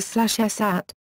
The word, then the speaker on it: Sacagawea: Sacagawea Sacagawea /səˌkɑːɡəˈwiːə/ is the most widely used spelling of her name, and is pronounced with a hard "g" sound, rather than a soft "g" or "j" sound.